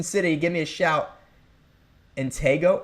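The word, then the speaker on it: Antigo: Antgo. Oh, it's Antgo. I never knew that. I always thought it was Antiggo.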